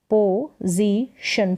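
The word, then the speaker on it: position: अब यहाँ पर ज करके इस एस का भी उच्चारण ज करके हो रहा है और स भी होता है, तो पोजीशन तो नहीं बोलेंगे, पोजीशन, यहाँ एस का उच्चारण ज।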